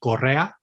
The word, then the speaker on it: Correa: In the Spanish pronunciation, it would be Correa.